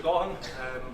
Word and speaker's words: Gaughan: Gaughan.